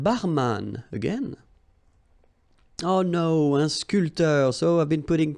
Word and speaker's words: sculpteur: This P here is not pronounced. So sculpteur, un sculpteur.